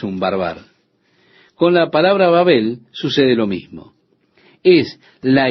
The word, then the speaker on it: Babel: Por esto fue llamado el nombre de ella Babel. O podemos pronunciar también Babel, como usted prefiera.